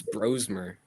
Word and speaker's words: Brosmer: it was on Max Brosmer propaganda. No, no, it was not good. I said I I kept saying your Mike White, bro. It's not even how you say it. It's bromer.